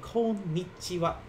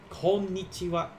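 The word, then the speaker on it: こんにちは: this in hiragana uh that last sound the last one here we pronounce it as like wah but when you write this in hiragana it actually uses the symbol for ha so this is called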